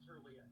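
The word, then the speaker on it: Tirlea: Nick Turili? Turlia. You said it, I think you said it right. It's Turlia, T-I-R-L-E-A, Turlia.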